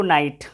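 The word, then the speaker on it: knight: यहाँ पे के नहीं होता है, इसमें के होता है, और के क्या होता है, साइलेंट होता है। तो आपको पढ़ना है इसको नाइट का, नाइट नहीं पढ़ना है, नाइट पढ़ना है, ठीक है।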